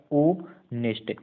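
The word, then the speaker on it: honest: ऑनेस्ट को देखा, ऑनेस्ट में आपको उच्चारण करना है, तो आप कहेंगे उच्चारण होता है ओ नेस्ट। इसमें एच क्या है, साइलेंट है, आप कहेंगे एच साइलेंट है इंग्लिश में, ऑनेस्ट उच्चारण हो रहा है।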